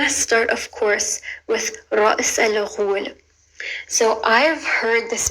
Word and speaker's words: Ra's: But anyways, it's pronounced Ra'is. Ra, it's a rolling R, Ra. And then there's a very short like Amelia, Ra. And then there's a glottal stop. And then there's a S.